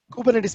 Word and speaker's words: Kubernetes: is a greek word kubernetes means a captain of his ship so as you can see kubernetes is pronounced as kubernetes which is a greek word for helmsman of a ship or a boat also